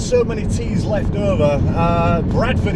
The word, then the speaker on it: Bradford: And then of course, because they've got so many T's left over, Bradford itself to me is spelled B-R-A-D, Brad, but in Bradford itself they do call it Brat, B-R-A-T, is that right, Bradford?